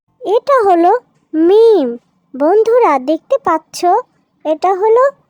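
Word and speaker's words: ميم: 2 ঠোঁটের শুকনা জায়গা মিলিয়ে আমরা মিম উচ্চারণ করব। এখানে দেখতে পাচ্ছ, এই যে একটু লক্ষ্য করো এই ছবিটার দিকে। এই ছবিটাতে যেভাবে ঠোঁট মিলানো হয়েছে ঠিক ওইভাবেই আমরা ঠোঁট মিলিয়ে পড়ব মিম।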